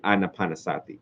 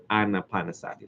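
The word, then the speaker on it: ānāpānasati: not underestimate that the anapanasati the PO word for it is anapanasati like Anna anaan Sati y'all know how to spell that an Ana P Sati s a TI anapan Sati okay a lot of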